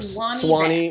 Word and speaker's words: Suwannee: They're called Suwannee bass, or Suwannee. Suwannee. It depends if you're from the South or not. How you say it, but yeah, they're really